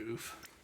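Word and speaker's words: ouphe: But it's pronounced oof. O-U-P-H-E. Oof.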